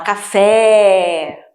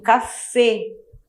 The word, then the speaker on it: café: A letra E tem um sonzinho fechado. Então, eu pronuncio café. Eu quero um café.